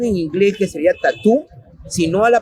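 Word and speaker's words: tattoo: Entonces, yo hablaba esto con una colega de inglés, de cómo, claro, si bien la pronunciación en inglés es tatú, pero la escritura en inglés ya no es tatú, tatú, Ajá.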